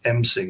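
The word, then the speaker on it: M'sing: It's just called ming. It's like m apostrophe s i n g.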